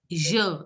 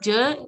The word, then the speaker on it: je: Je m'appelle. Je. Instead of je, try to say je. Je. Je. Lata Ramesh, can you pronounce je m'appelle? Je m'appelle. Instead of je, always try to pronounce je.